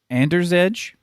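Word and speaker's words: Andrzej: polish story originally by here we go don't mispronounce the name of my people ander's edge sepkowski what do you think yeah i don't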